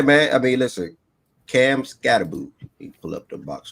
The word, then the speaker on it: Skattebo: about Skattebo? Skattebo. Okay, cool. Skattebo. All right. So how it look? Uh, yeah, man. I mean, listen, Cam Skattebo.